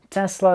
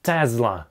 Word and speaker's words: Tesla: Произносится либо как Тесла, либо как Тесла. С буквой « s» или «z» посередине.